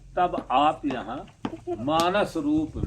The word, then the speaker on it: मानेसर: तो ये मानसेश्वर महादेव के नाम से ये जो है, एक मानेसर हरियाणा में भी है, मानेसर है वो। हाँ, मानेश्वर नहीं है, हरियाणा का मानेसर है।